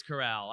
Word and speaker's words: Corral: and uh i can't how do they pronounce it coral or it's corral it's corral that's why i can't